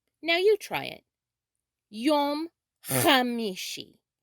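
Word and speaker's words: יום חמישי: now you try it yom khamishi it's also acceptable to say yom ha mishi yom ha mishi if the ch h sound is a little too difficult to begin with but keep trying you'll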